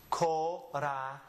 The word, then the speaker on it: corazón: So when we read it in a word, read it as if it's an S. Corazón.